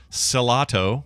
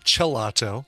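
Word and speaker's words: Cellato: Or it could be pronounced gelato. Yeah. Because it's the first 4 letters of cello, which is pronounced that way.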